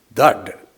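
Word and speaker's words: דעת: 이제 이게 히브리어의 다트라는 말이죠. 다트. 그래서 그 사람들은 다드 이렇게 발음합니다.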